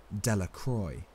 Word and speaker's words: Delacroix: and Harry Jones and Dicky delaqua the villagers pronounced the name delacroix eventually made a great